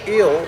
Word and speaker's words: El: And then, of course, planetarily, listen, y'all, planetarily, El, or the proper pronunciation is Il, E-L.